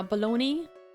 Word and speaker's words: bologna: That's a load of baloney, Your Honor. Bunch of processed turkey meat. Alright. I'm definitely gonna have to... Yeah, bologna. It's spelled like Bologna. Like lasagna.